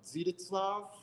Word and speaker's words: Zdzisław: It's not Stanislaw Zukowski, is it? No. Zdzisław.